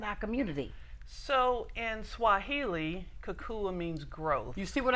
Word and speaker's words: Kukua: Tell everybody how you got the, I don't want to pronounce it wrong. the Kukua Institute. Yes, say it again. Kukua.